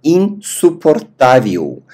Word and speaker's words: insuportável: У калор эста инсупортавиу. Л на конце произносим у.